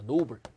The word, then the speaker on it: noble: noble. 이건 몇 음절어? 이름절어입니다. 이름절어. 예, 이는 발음이 안 되잖아요. 예, noble 이렇게 되죠.